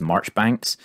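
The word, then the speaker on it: Marjoribanks: and baron dudley cootes marjorie banks and he's technically they say his last name is pronounced march banks but it's spelled marjorie banks so i'm going to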